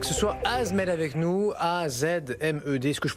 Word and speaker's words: AZmed: Avec ce soir Azmed avec nous, A-Z-M-E-D, est-ce que je prononce bien d'ailleurs? Julien, bonsoir. Bonsoir. Azmed, oui. Azmed ou Azmed, comme vous voulez.